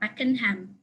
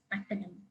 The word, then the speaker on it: Pakenham: And this station, the name of the station is apparently not Pakenham, but it's Pakenham. So yeah, you can see that the name Rowan and Pakenham are not common in